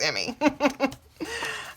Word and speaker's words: Emmy: Her name rhymes with Jimmy. It's Emmy.